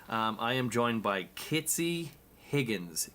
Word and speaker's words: Kitsy: Um, I am joined by Kitsy Higgins. Kitsy is the right pronunciation.